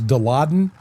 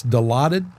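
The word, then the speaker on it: Dilaudid: I I thought it was deladden, but it's delotted.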